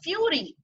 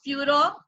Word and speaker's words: Führer: The Fury, because he is not able to pronounce Führer properly.